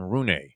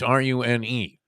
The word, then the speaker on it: Rune: Guy named Holger, I believe you pronounce his last name Rune, but it's Rune.